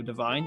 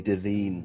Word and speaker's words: Devine: and tifo's very own joe devine have i pronounced it right yeah yeah good job fantastic stuff how are you paul i'm okay thanks you just reminded me that teachers always used to call me davine when i was in